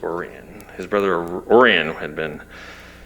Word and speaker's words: Orion: His brother Oran, I hear I used to call it Orion. Apparently in Missouri it's pronounced Oran.